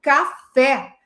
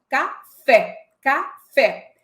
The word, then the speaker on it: café: Então, quando eu falo café, a palavra apresenta a tônica fé. Café, café.